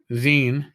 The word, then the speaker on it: zine: the rascals zine right not not magazine magazine it's like i still have a mental issue when it comes to pronouncing zine my brain wants to just spell it out it's g-i-n-e that should be sign i'm fighting myself on